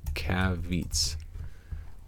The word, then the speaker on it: caveats: Caveats. Some caveats. There we go. Like caviar. Caveats.